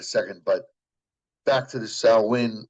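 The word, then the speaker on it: Samhain: but back to the salwin or Salen uh Gaelic pronunciation uh Salen has been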